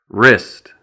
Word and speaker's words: wrist: Then we have the silent W, which is not pronounced at the beginning of a word before the letter R, as in wrench, which is this tool right here.